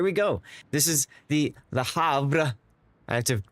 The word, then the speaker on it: Havre: She has, well, but see, the R is after the V, not before it. I just, you know, I'm just following the way it's spelled.